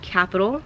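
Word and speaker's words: Qapital: The second app, again recommended by Auntie Mari, it's called Capital. It's spelled with a Q, Q-A-P-I-T-A-L, and this app helps you save.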